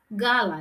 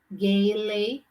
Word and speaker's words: Gala: a nickname again gala it's gala it's not gaeli it's gala a is